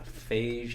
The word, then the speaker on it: Feige: I mean, Kevin Feige, how do you pronounce it? Feige. like the water. Kevin. That's Fiji. We'll take off the eye.